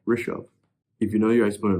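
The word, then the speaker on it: Rishav: But the way to pronounce it is r i sh a v. Rishov.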